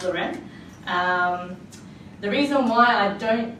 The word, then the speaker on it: Larene: wave seen it and it's pronounced low-rent the reason why I